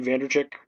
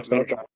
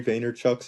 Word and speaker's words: Vaynerchuk: Gary Vanderchuk, I always say his name incorrectly. Vanderchuck. Yeah, Vaynerchuk?